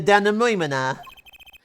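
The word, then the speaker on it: dénouement: That's don't how know you that pronounce that. Yep. And then the denouement.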